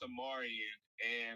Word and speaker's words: Amarion: So Don't- it's pronounced Amarian, and like my mom, so all my siblings' names start with the letter A.